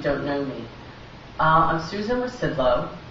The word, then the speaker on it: Rzucidlo: I'm Susan Rzucidlo. The Z is silent. When you say it, it always throws people off.